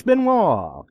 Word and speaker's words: Benoit: Chris Benoit. Good guy. Benoit, that's right, recovery. Benoit. You know, I had to put that in Google Translator to get the pronunciation right, because that don't spell Benoit to me.